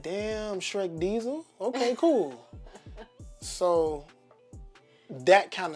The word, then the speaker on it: Dyzell: where daisell came from because you could pronounce it diesel if you look at